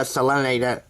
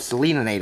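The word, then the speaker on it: Selenator: I'm not a selinator. Yeah, I got that right this time. I've been pronouncing it Selena-nator, and that's not correct.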